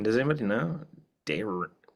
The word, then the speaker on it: Daenerys: Daenerys Daenerys Daenerys Targaryen Can you